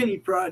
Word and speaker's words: Pryde: they got Pride is spelled Pryde as in Yeah, Katie like Pride, I'm like in guessing. Kitty Pride, yo.